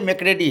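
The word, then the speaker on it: mercredi: मार्डी और थर्सडे देखिए देखो एम ई आर है तो मर्क्रेडी होना चाहिए लेकिन ये मैक्रेडी है मेक रेडी है ना तो इसलिए इसमें आर साइलेंट है इसके बाद क्या है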